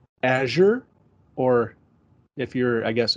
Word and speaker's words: Azure: is funny though because I've heard it pronounced a number of different ways um I I say Azure um I've heard some people say azour um I've heard people say air no um I actually should